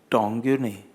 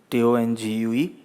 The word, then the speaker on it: tongue: So that man, he says, "Sir, not 'tong-you'. Tongue. T-O-N-G-U-E. It is called tongue." The boss understood very well, that it was his mistake, 'ue' is silent.